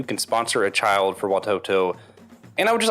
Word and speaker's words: Watoto: do you say it you got it right watoto okay and watoto could you could you just tell everybody something